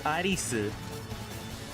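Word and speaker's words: アリス: Not Alice like E-L-I-S. How would you pronounce it in Japanese? Arisu.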